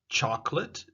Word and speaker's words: chocolate: Remember, we had chocolate, chocolate, the chocolate, the O disappears.